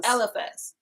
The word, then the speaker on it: Eliphaz: Eliphaz.